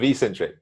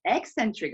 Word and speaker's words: eccentric: is that instead of Ecentric Ecentric is it yeah it's eccentric apparently Centric it's uh The Eccentric people and eccentric loading it's the same pronunciation so okay okay that's